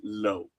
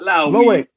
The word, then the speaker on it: Lowe: I am railing because at the game yesterday on the PA the player's name was Lo. L O W E not Lowi.